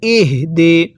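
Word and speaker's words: اهدنا: মুস্তাকিম আরেকবার পড়ুন ইহদি আমি কিন্তু এটাকে ইহদি পড়ি নাই অনেকেই এই হাটা উচ্চারণে ভুল করি পড়ুন আমার সাথে ইহদি হাটা উচ্চারণের সময় মুখে আওয়াজ করতে হবে পড়ুন ইহদি এরপরে নাস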